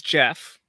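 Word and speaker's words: Geoffrey: goofy looking statue so it's it's jeff but it's spelled uh like g off okay excellent very good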